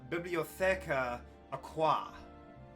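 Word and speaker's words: Bibliotheca Aquae: Actually, it's Bibliotheca Aqua. Ah. Yes. This is Latin. It's all written in Latin, which is basically like library under the water.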